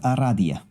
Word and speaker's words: Aradia: It is pronounced Aradia.